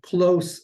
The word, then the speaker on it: close: Okay, close, cerca, in proximity. That's a straight up S sound at the end of the word, close, versus close.